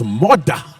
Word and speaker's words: Murdah: d a h yes one R which if you're from Scotland all right it's Moda MAA but if in English it's uh badly spelled I don't